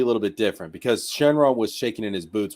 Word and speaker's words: Shenron: I mean, Shenron literally means, well, in Japanese it's Shenlong.